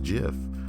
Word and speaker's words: GIF: number 43 the creator of gifts as it's pronounced jiff and moms like you choose jiff if you